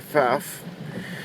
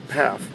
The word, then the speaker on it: Pfaff: It's a German name, so in Germany they would pronounce the F with the P, so they would say Pfaff. In North America, when a person sees the 3 F's in a 5-letter name, they kind of panic. So they've silenced the first F, and phonetically they would just say Pfaff, P-A-F.